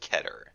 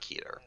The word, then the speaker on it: Keter: We do have a couple people on the site who speak Hebrew, and they say it's pronounced Keter, Really? not Keter.